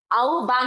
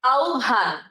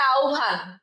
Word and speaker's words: আহ্বান: আহ্বান, আহ্বান বললে হবে না। হ্যাঁ, এই বটা হয়ে যায় ভ আর হটা হয়ে যায় ও, তখন উচ্চারণ হবে আহ্বান।